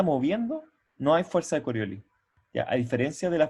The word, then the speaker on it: Coriolis: si colores también haya y se pronuncia la es el final igual sí yo creo que yo nunca lo había escuchado bueno bueno aclararlo es coriolis ya y es el parámetro